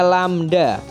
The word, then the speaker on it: lambda: Diingat-ingat bacanya lambda. Lambda, lambda, lambda.